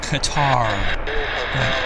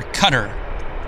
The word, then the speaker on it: Qatar: now Kari flight or Cutter I think they call I think the pronunciation is cutter as in c t t e r cutter I always used to call it Qatar that was in the